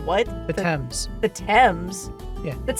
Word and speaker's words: Thames: His body was coated with tar and suspended in chains from a gibbet at the mouth of the Thames. The Thames. I'm sorry, you said what? The Thames.